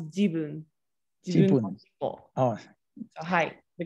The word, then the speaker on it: jibun: You pronounce this as jabun. This is ja. So what is it actually? It's my tail. It is my tail, but it's pronounced as jibun.